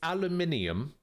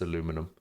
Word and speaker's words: aluminium: I after the N there is so it's aluminium everywhere in the world except for the uh except for the US and Canada where it's aluminum so everywhere else in the entire planet calls it aluminium and first written record